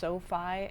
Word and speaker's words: SoFi: We opened I believe it's pronounced SOFI, S-O-F-I account that has an international debit card that has no fees.